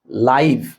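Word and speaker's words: live: লাইভ এল আই ভিই এটা দুই রকমের উচ্চারণ একটা হচ্ছে লাইভ আরেকটা হচ্ছে লিভ। যদি লাইভ উচ্চারণ হয় তখন অর্থ হবে সরাসরি। এইযে আমি তোমাকে লাইভে পড়াচ্ছি সরাসরি। ওকে? লিভ উচ্চারণ হয় তাহলে হবে বসবাস করা।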